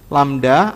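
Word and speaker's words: λ: tulisin dalam bentuk simbol ini bacanya adalah seperti ini lamda atau panjang gelombang panjang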